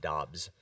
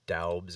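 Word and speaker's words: Doubs: he came out and he said his last name is pronounced dobbs for anybody wondering oh it's so it's just romeo dobbs debs it's not daubs or dubs or however people are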